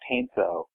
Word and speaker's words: Heinsoo: Apparently Jonathan hadn't used my last name, which, Bob, I'm going to point out to you, is pronounced Heinsoo.